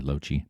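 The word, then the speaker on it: Loche: That's how you pronounce my name, by the way, LoChi.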